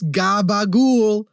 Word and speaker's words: capicola: He's like, "Guys, it's not capicola. It's gabagool."